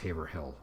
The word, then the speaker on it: Haverhill: It looks like it's pronounced Haverhill, but we're so used to pronouncing it as Haverhill that when I pointed that out to somebody in my group, they couldn't even imagine how somebody would pronounce it another way. And then when I told them Haverhill was the way people sometimes mistook it to be pronounced, this person was very surprised, because they just wouldn't have thought of pronouncing it like that.